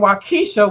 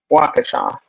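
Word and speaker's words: Waukesha: they be like and wesa Wisconsin like that is not how it's pronounced it's waa y'all wakaa so sounds like were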